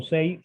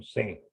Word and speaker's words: Say: Así es como se pronuncia, no Say, sino C. ¿Ok? Sí, así se dice en francés.